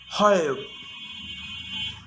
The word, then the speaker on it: hope: Hop, hope, sit, side, hit, hide, slid, slide. So see how the E at the end, although it's not pronounced, it's affecting the vowel sound before it. It makes it longer.